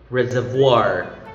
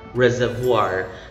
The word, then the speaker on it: reservoir: one with french origin reservoir reservoir now the letter r here is silent the middle r is